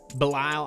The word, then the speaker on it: Belisle: We got Asuna, Shane Green, Belisle, I believe is how you say it, according to the comments section, Tony Cingrani, Bruce Rondon, Scott Oberg, and Sam Dyson.